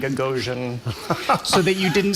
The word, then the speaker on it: Gagosian: ahead she learned that there was a very specific pronunciation of gagosian that people had to have as they answered the phone and that was sort you had to bring the name down at the end gagan so that you